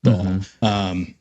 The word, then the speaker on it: Baal: Well, I mean, yeah, you look at the worshippers of Baal, or actually apparently pronounced Baal.